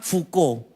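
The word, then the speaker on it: Foucault: namanya pernah dengar enggak tulisannya itu faau chault gitu faau caul bacanya fuko emosi enggak sih saya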